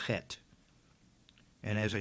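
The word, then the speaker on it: ח: It is called Chet. And as I said, the word Chai is often spelled C-H-A-I. This letter Chet could be spelled C-H-E-T-H, pronounced Chet.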